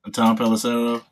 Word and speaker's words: Tom Pelissero: Tom Pelissero.